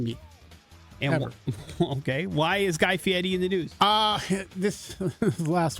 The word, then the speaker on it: Guy Fieri: Guy Fieri. There you go. Nailed it. Good job, Dale. Hang on Proper one second.